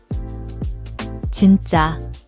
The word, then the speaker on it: 진짜: The double is a tense, unaspirated J sound. It's not jin-JJA but a sharper, more clipped jin-JJA.